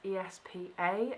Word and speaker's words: ESPA: therapy from I'm assuming cuz it's in capitals it's pronounced espa as opposed to esper but who knows this